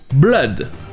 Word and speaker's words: blood: Ça se prononce avec le son E, blood.